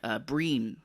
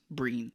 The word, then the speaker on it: Brian: Breen, I think is how you say it. They're I think Irish, but it's Brian, spelled like Brian, but I think you pronounce it as Breen.